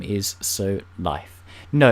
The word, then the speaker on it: Lif: like to call it LIF people like us I've seen comments up in people's videos where it's like dead like no this is you said it wrong it's not life it's LIF it's a one-and-only LIF